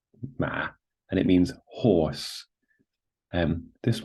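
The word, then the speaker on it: 马: So this character here, ma, is pronounced ma, and it means horse.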